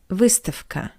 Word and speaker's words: выставка: And the second example is the word выставка, which means exhibition. The voiced consonant V stands before the voiceless consonant K. That's why we pronounce V as its voiceless analog F. V, F, V, F.